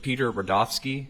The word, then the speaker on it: Rudofski: Special Agent Peter Rodovski. That's R U D O Fs KI and it's pronounced Rudolph and then ski.